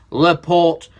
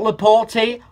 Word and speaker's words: Laporte: As you will have seen from my video yesterday, Laporte, not Laporte, Laporte. Now, his name's pronounced Emeric Laporte.